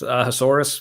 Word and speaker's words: Ahasuerus: I don't know how to pronounce that. Ahasuerus Suerus. sounds like a dinosaur. It's Ahasuerus.